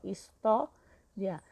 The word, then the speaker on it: história: História. Então, a penúltima sílaba é forte e terminou com ditongo, ó, ria. Então, o tó é acentuado.